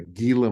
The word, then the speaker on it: Gila: an Ela monster GH I think some people call it a gila monster but I think it's pronounced heila monster and it's a lizard